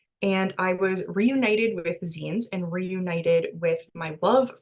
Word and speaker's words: zine: So a zine, it is pronounced zine and not zine, is short for magazine or sometimes like a fanzine.